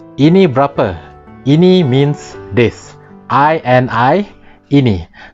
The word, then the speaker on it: berapa: And this is berapa, or usually pronounced berapa. That's a B-E-R-A-P-A.